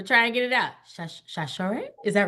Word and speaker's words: Sasor: Shashore? Is that right? Yes, hey girl, Girl, hey. I've been saying your name wrong for probably 10 years.